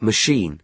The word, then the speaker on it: machine: The word machine is stressed on the second syllable.